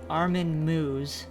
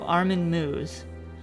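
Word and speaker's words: Armin Meiwes: I'll stop all right the internet says it's pronounced Armen moo so Armen moo um there is something that I had deep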